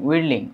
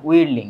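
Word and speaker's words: whirling: মাত্রায় এটা কি হবে স্টারিং আর হচ্ছে রিলিং উইলিং উইলিং এইটা থাকবে না এইস এর উচ্চারণটা হবে উইরলিং হবে।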